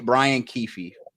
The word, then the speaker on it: Brian Keefe: Brian Keefe.